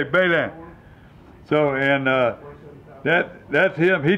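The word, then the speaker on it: Beslin: You know that it's spelled B-E-S-L-I-N, and we a joke on them. For years I pronounced it, but it's French, and they say Balin.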